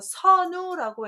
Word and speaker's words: 선우: 오랑캐 이름 선자라고 해서 선우라고 해서 흉노종의 추장을 선우라고 하는데 임명자에서도 선우 뭐뭐 할 때도 이렇게 쓰는 한자죠. 그래서 임명자에 쓸 때는 얘를 선이라고 읽는다는 거 꼭 알아두시고 발음이 단과 선이 있구나 이렇게 이해하시고 보십시오.